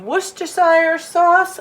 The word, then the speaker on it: Worcestershire: a good splash of Worcestershire sauce oh wait a minute it is worcestershire sauce never knew the pronunciation was on the label and then I'm adding